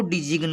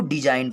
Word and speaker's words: design: इसको डिजिग्न नहीं पढ़ेंगे, इसको डिजाइन पढ़ेंगे।